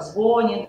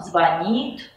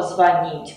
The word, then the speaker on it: звонит: многие произносят его как звонит Это неправильно звонит звонишь звонят можете запомнить это следующим образом во всех глаголах где корень звон ударение никогда на корень падать не будет Поэтому звонят звонишь а звонит звони и другие слова